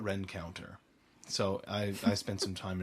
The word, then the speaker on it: Rencontre East: called Galtus, McCallum, and if you were to see it on paper, you'd pronounce it probably Rencontre East, but they call it Rencounter.